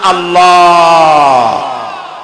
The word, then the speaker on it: আল্লাহ: গুণাবলীতে বিশ্বাস আল্লাহর নাম আল্লাহ বলেন তো আল্লাহ নয় কিন্তু আল্লাহ হচ্ছে অশুদ্ধ শুদ্ধ হচ্ছে আল্লাহ বলার সময় মুখটা গোল হয়ে যাবে বলেন তো সবাই উচ্চারণ